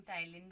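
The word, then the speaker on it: ptyalin: पी हमेशा silent रहता है, बट लिखना ऐसे होता है, जिसे हम कहते हैं पटाइलिन। आप ऐसे याद रख सकते हो, बट इसे हम बोलते हैं टाइलिन है।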